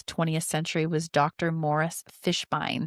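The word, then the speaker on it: Fishbein: Morris Fishbine. I think that's how you say it. Bean. Fishbine. Pine. Bine. Okay, great.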